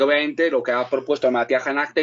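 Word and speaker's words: भारतीय जनता: al partido Bharatiya Janata, no lo voy a pronunciar bien. Janata, el término hindi correcto es Bharatiya Janata, aunque luego está el término inglés que se usa también en la India como lengua oficial.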